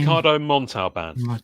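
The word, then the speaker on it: Ricardo Montalbán: KH um Ricardo Anam what's what's his name Ricardo montau band yes that's how you say it yes yes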